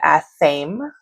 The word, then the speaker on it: athame: I like to rage bait you guys sometimes with saying that, but they are spelled ame, but they are said a theme.